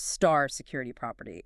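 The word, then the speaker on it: *-security property: Second, and this is often the key one, the security property pronounced star security property, nicknamed no write down.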